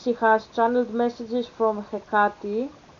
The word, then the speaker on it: Hecate: has channeled messages from Hecate. I don't even know why I'm pronouncing her name in English like I'm a fucking Greek, like Hecate. That's her name, Hecate.